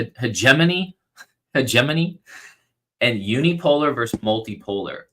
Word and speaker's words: hegemony: Hegemani. How do you say it? Yeah, it's one of those words that can sound a bit tricky. Usually, it's pronounced like hegemony. Hegemany.